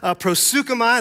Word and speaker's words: proseuchomai: Proseuchomai, that's how you say it in Greek.